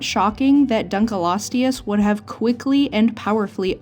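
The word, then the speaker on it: Dunkleosteus: is much the same I thought this animal was called dunal loius for the longest time so I'm going to try to make sure I say it correctly in this video but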